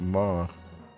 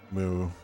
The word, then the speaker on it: Mu: my pronunciation of things i've just always called it ma but i guess it's uh it's moo when i last time i looked it up because it's in uh